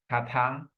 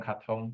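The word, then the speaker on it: קטן: So katan, ketana, or katon, ketana, okay. Is Katon more like a biblical pronunciation Um, or Asian?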